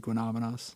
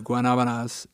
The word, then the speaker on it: Guanabanas: want to go to Guanabanas and you want to say it, the correct pronunciation, just think of that classic song. There you go. And then just put it Guanabana. And then you've got it.